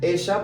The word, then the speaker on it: ella: Ella, pronunciation here, double L plus a vocal, ella no tiene las llaves. And here the same, okay? Llaves. So this will be, she doesn't have the keys. She doesn't have the keys. So again, whenever you see this, you know the sound is sh sound, okay?